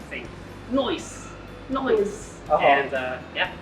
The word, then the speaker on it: Snoice: people come in asking is it sluice or snow ice and it's noise it's inspired by this